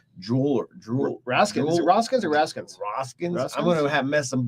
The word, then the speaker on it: Roskin's: at roskin's Jewelers Jeweler we're asking raska's or raskins I'm gonna have messed them both up if I don't say it right roskin's Jewelers okay is it Jewel or jewel is